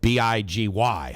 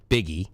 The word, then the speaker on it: Big Y: First of all, you look at it and you're like, okay, Biggie, right? I mean, B-I-G-Y. How do you pronounce that? Biggie, but no, it's Big Y.